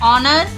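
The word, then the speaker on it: honour: एच जा जो शब्द है वो फर्स्ट लेटर के ऑनर ऑनर एच साइलेंट है।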